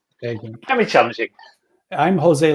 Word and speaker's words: Eggink: It's Dutch, so that's Eghink.